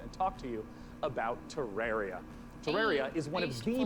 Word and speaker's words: Terraria: this next segment and talk to you about Terraria.